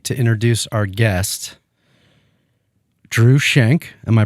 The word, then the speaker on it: Schenck: a great segue to introduce Our Guest Drew shank am I pronouncing that correctly yes also of dram and